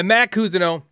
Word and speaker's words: Mat Cousineau: Did I pronounce it right that time? You did. Nailed it. By Matt Cousineau.